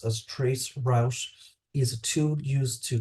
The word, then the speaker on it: tracert: in today's networking world tracert Tracer which is pronounced as Trace Rous is a tool used to trace a network